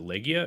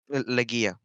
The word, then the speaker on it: Legia: Is it Legia or is it Legija? Legia. Legia. Okay, Yeah.